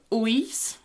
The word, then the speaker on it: ulls: It's like a more of an L-ish sound, the l and the y together. L-y Can you try and say that? L-y L-y Yeah, but you can probably get away with saying y if you're not sure.